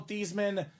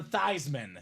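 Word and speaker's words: Theismann: Robbie and they said let's change your name from thesan to thyman so they can campaign for thyman for the Heisman how awesome I turned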